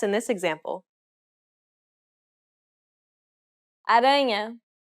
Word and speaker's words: aranha: Aranha. Since this word ends with a vowel that isn't an I or a U, the stress will be on the second to last syllable.